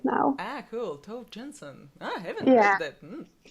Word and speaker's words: Tove Jansson: So maybe I pronounced her name wrongly. How do you say her name? Tove Jansson.